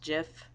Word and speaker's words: GIF: pajamas caught naturally aluminum okay so there's there's jiff on here I know it's supposed to be pronounced jiff there was like this thing on so much